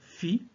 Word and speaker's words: Phi: Et en expirant, nous prononcerons dans la tête le son Phi, qui s'écrit P-H-I, donc une syllabe Phi.